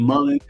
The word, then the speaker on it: mullein: black seed oil and mullein or mullein, depending on how you say it, they actually have.